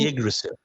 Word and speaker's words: Yggdrasil: Just this week, I uploaded a tweet saying that in Norse mythology, how did you pronounce the name of that tree again? The Yggdrasil? Yggdrasil.